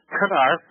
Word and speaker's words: Knarf: a little bit we we don't go with a silent k we go with a hard K canar say it out loud